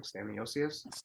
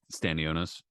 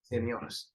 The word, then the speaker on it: Stanionis: Stan, how do you pronounce his name? Staniosius? Stanionis. Stanionis.